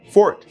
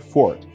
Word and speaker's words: forte: away from all this number one fort for fourth unfortunately sounds identical to our english word fort which by the way